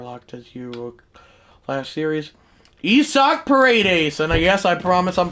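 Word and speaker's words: Isaac Paredes: Isak Paredes, and yes, I promise I'm pronouncing that right.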